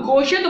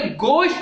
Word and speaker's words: गोश्त: हम गोश्त बोलते हैं, गोश्त नहीं बल्कि गोश्त है।